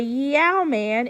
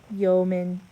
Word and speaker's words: yeoman: fjord number 13 it's not a yau-man it's a yeoman number 14 we punched